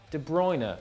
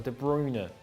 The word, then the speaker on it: De Bruyne: Roberto Carlos, Thierry Henry, Ross Barkley, and Kevin De Bruyne, or De Bruyne, depending on how you want to pronounce it.